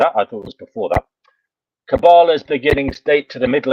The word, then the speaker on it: Kabbalah: bit about it not a lot but they pronounced it cabala cabala okay well you know forgive me for uh